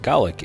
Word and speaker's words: Gaelic: acknowledge that it's pronounced Golic in Britain but we Americans tend to use the Irish pronunciation of Gaelic these forcibly transplanted people